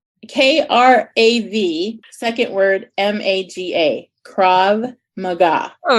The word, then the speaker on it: Krav Maga: even spell that and how you say it Krav Maga it's Hebrew uh it's the Israeli self-defense